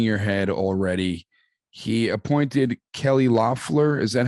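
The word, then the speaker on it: Kelly Loeffler: you're you're shaking your head already he appointed kelly loffler is that how you pronounce her name am i doing am i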